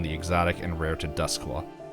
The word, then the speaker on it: Doskvol: Exotic and rare to dusk law I just saw that spelled completely different but that's how you pronounce it uh the citizens that